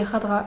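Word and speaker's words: Khadra: J'ai dit Cadra la dernière fois, je crois que ça se dit Radra.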